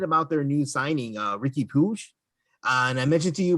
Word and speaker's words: Puig: their new signing, Ricky Puig. And I mentioned to you before, it's so confusing to me so he spells his name like Yasiel Puig did for the Dodgers, but you pronounce it Puig.